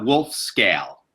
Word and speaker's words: Wolfskehl: in your last name it's a wolf scale woof scale okay all right so